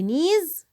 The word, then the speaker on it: knees: we have the knees الركب، elbows الأكواع. so knees, elbows. Don't forget that the K is silent.